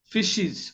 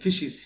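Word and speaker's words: faeces: animal উচ্চারণটা difficult মনে হইতে পারে এটা হচ্ছে ফিশিস উচ্চারণটা রিয়েলি ভেরি ডিফিকাল্ট ফিশিস এফ এ ই সি এস ফিশিস ফিশিস মানে গোবর মানে গোবর জাতীয় প্রাণীদের প্রাণীর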